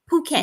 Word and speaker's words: Phuket: Yeah, and in Asia, they pronounce PH. It ain't an F sound. The P makes a P and the H makes H sound.